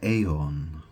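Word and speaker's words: Aeon: Well, normally the 20th card is the judgment card, but it's actually um it's called the AON card. It's spelled A E O N.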